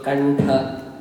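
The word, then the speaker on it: कण्ठ: So kantha, right? Da, ta, danta. You pronounce it as a na, not as a ma.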